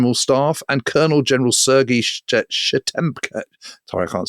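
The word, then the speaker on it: Shtemenko: Plus also General Alexei Antonov from the General Staff and Colonel General Sergei Shchemenko. Sorry, I can't say that. Shchemenko.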